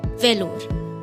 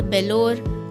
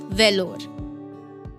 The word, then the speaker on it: Vellore: एक ऐसा किला जो अक्सर मिस प्रोनाउंस किया जाता है वेलोर नॉट बेलोर not lorry it's वेलोर वेलोर किला जिसका मैं